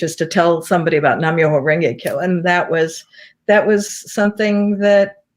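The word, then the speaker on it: Nam-myoho-renge-kyo: I don't want to say it how do you pronounce it again? Nam-myoho Renge Kyo.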